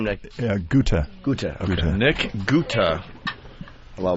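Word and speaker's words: Guthe: Guta.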